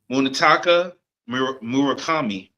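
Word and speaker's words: Munetaka Murakami: Munitaka Murakami.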